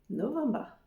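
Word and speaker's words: november: nous avons ensuite novembre novemba toujours pareil la première partie du mot c'est la même qu'en français novemb et on rajoute ce bas avec un petit R novemba novemb et pour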